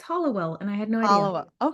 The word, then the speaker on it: Hallowell: pronouncing that right M I said Hallowell the whole time I was writing it and then when I was talking to the a b producer turns out it's Hollowell and I had no